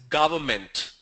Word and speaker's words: government: A lot of people say government, government. It's neither government nor the government. The pronunciation is government. Government. It's not government, it's government.